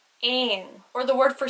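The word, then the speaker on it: éan: e father for example the word e father a n which means bird would be pronounced like in or the word for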